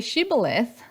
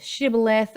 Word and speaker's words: Shibboleth: Those in Gilead, they pronounced it Shibboleth, and those in Ephraim, west of the Jordan, they pronounced it as Sibboleth.